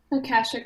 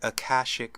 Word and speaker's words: Akashic: is how do you say that word again Kashuk records Akashic records I think that later I might we